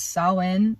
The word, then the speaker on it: Samhain: So there's a lot of Halloween, or if you want to know the real way to say it, it is Samhain, or there's like another one. I think I'm pronouncing it the Welsh way.